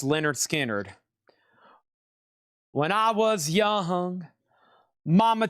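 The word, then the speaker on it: Lynyrd Skynyrd: Pronounced Leonard Skard.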